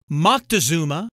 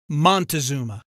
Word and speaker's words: Moctezuma: Moctezuma born in Circa 1466 has many variant spellings and pronunciations including Montezuma North Americans are generally more familiar with Montezuma this legendary Mesoamerican ruler